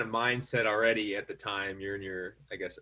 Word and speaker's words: TYME: at least starting yeah is it time or tyme the time it's spelled t-y-m-e right so how did